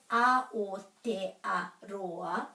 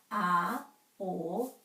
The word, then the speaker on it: Aotearoa: It makes the pronunciation so much easier. So with Aotearoa, which we then say faster, Aotearoa.